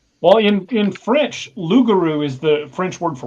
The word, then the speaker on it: loup-garou: In the movie, they were talking French, and they were pronouncing it the lougarou. Well, in French, loup-garou is the French word for werewolf.